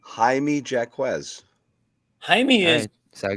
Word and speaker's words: Jaime: Jaime Jacquez. Jaime is so I got it. Is right? Isn't just another form of James? Jaime? Yeah, it's Jimmy.